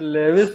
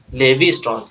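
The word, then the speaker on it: Lévi-Strauss: लेविस ट्रॉस है लेवी लेविस भी नहीं है लेवी है लेवी एल ईवी आई लेवी लेवी स्टॉस है ले सर स्टॉस ना सर ले स्टस लेवी स्टस है ना एंथ्रोपोलॉजी दिया है ना क्या बात है मयंक बहुत बढ़िया लेविस है ना यानी कि लेविस है वो वो लेविस लेविस नहीं है सिर्फ लेवी है हां स्ट्रक्चरल एंथ्रोपोलॉजी दिया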